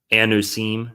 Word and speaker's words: anusim: We have words like chueta, morirano, converso, anusim is another, that's how they say it in Hebrew. Anusim.